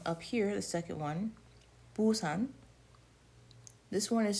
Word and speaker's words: Busan: Even though it is a B, it's pronounced more like a P.